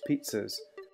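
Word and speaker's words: PZHs: poten potential zany hosts pz H's pronounced pizzas zany virus can most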